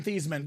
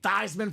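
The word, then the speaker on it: Theismann: get your paperwork in theeman get those papers done then all of a sudden Mr thieman was a Heisman finalist Notre Dame said Hey Joe let's change that last name thyman for the Heisman did not win the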